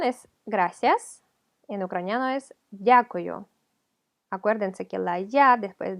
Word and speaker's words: дякую: Дякую, дякую. Hay gente que lo escucha como y-a, дякую, pero es d, hay que pronunciar la d, o sea, tocar con